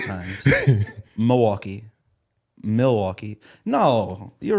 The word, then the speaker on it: Milwaukee: Milwaukee. Apparently I said the L too much. Milwaukee. It's supposed to be like Milwaukee. There's the L there for a reason.